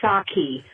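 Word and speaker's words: Psaki: name hundreds of times i would suggest that you pronounce it correctly yes it's jen saki with a a a short no yes a soft a instead of instead of saki jen saki bye bye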